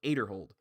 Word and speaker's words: Aderhold: but it happens um ezra adderhold aderhold aterhold that's what they were saying on uh disc golf network his last name is pronounced aderhold he shot a 40